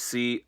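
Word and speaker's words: Coriolis: on Rhett, and the Aussie Open win with Coralius. I have no clue how to say their finisher. I did Google it. It is Corealis. I'm not very good at pronunciation, but very good match from both sides.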